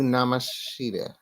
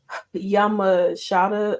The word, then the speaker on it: Yamashita: And then in our main event, Jordan Grace, Miyu Namashita, right? From what they were saying, Because I guess I've been saying it wrong too. It's supposed to be Miyu Yamashita or Yamasha, something like that.